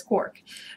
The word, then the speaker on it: quark: of the G was clearly intend to rhyme with Mark as well as bark and other such words I had to find an excuse to pronounce it as cork but the book actually